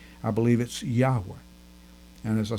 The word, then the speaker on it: Yahweh: about the correct pronunciation I believe that Yahweh is correct I say Yahweh in the United States